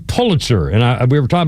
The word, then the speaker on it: Pulitzer: It's like Kennedy's in Massachusetts and the Pulitzer it's actually Pulitzer. The official name to pronounce it is Pulitzer.